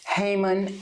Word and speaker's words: Haymon: spell my first name is initial Heyman h-a-y-m-o-n Heyman and then why don't we just